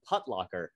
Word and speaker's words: Putlocker: I always pronounced it Putlocker, but that's a conversation Putlocker? For another day. I said putt. Putt. Yeah, I was going to say it's not called Foot Locker. It's Foot Locker rhymes with Foot Locker.